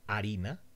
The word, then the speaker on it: harina: For example, in the word harina, flour, the H is silent.